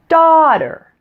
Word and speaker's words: daughter: person place or thing so two syllable nouns typically follow a certain pattern we usually stress the first part so in this case daughter is pronounced daughter we're stressing that first part and it does follow